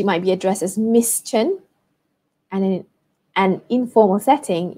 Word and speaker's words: Tan: So for example, if her family name is Tan, spelled T-A-N, pronounced Chen, for example, Chen Li Mei, Chen would be at the front, and then Li Mei.